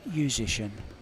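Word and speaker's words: Juszczyszyn: way to pronounce it imagine musician but it's musician musician musician yeah and i thought he told me zeus to shin telling us different things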